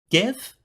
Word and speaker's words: Geff: making his specialty waffles GIF if I were reading your name on paper I'd pronounce it like like Jeff but with a hard G as in gangrene yes interrupted GIF the